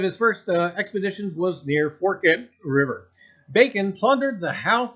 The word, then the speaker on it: Forked River: Even though it's spelled Forked, F-O-R-K-E-D, for whatever reason, New Jersey says Forked.